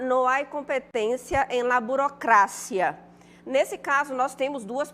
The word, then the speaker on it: burocracia: Já burocracia, não. A gente observa que em português a gente fala o quê? Burocracia, não é isso? Em espanhol, burocracia.